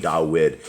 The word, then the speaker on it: Dawid: that people understand that when we're saying dawid is the the actual the right pronunciation of the the the king of Israel is not David it's DED okay and